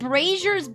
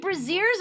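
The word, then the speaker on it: Brazzers: I called brazers brazers. Apparently, breazers are a kind of underwear.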